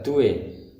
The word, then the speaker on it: due: Ingat pembacaan huruf D, dia membacanya tipis. Jadi dibaca due.